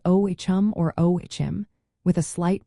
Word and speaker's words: Ogham: The pronunciation of Ogham is primarily O-H-M or O-H-M, with the emphasis on the first syllable.